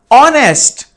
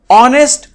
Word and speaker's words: honest: man yes honest man hear the sound of H is silent and it turns like honest so honest sounds like what a